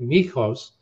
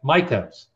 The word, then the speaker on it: Mikos: not sound ethnic so rather than pronouncing it mikhos which is actually the way he would say it if you're in greece he said michaels and he actually went